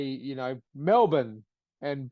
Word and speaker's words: Melbourne: actors that's a Melbourne it's not Melbourne it's Melbourne or Brisbane it's Brisbane you know what I